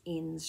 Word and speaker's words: Inns: I keep on thinking it's Innis, but it's not. It's Inns dress by Stylark, and I made this in a magenta ponte.